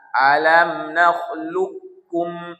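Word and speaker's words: نخلقكم: Ah, karena qof sama kaf berdekatan, maka kafnya dikali tasdid. Qfnya tak usah lagi dibaco. Jadi membacanya alam naklukkum.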